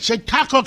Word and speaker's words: Chautauqua: I said it, Chautauqua County.